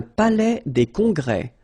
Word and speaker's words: palais des congrès: Un palais des congrès. Final S here and here are not pronounced.